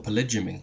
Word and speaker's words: polygyny: We'll leave polygamy, or polygyny as it's actually pronounced, aside, because I think it's self-evidently not optimal.